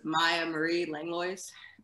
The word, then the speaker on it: Miah Marie Langlois: thanks paul uh so to pronounce my name it's maya marie langlois um okay i butchered